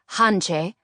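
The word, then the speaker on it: Hantze: Hanse Płotnicka, pronounced in English as Hanche, Frumka's younger sister, also a freedom leader and courier.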